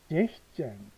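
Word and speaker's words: sechzehn: 피어잼 15 베프잼 16 자 S가 빠집니다. 잭스가 아니고 제시젠 17벤이 아니고 빠지죠.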